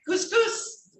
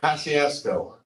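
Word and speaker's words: Kosciusko: How do you pronounce that? Couscous. No. Paciasco. Paciasco. All right, that makes sense.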